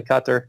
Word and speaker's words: Qatar: you know and then I say Qatar in America we say that but it's actually cut there like the Arabic pronunciation but Cyprus when we